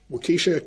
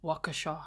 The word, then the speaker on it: Waukesha: I had the medical records of, hold on, Waukesha County Medical, inventory of medical, there was the medical records. Ooh, do I get to be the pronunciation police for a change? It's Waukesha, sir.